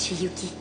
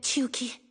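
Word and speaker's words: Chiyuki: Moi aussi, c'est ce que je préfère, ma petite Shiuki. Je crois que je m'appelle Chiuki.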